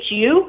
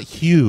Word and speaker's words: Hu: your last name's hugh hu no it's not hugh that would be h-u-e mine's just hu that's what i just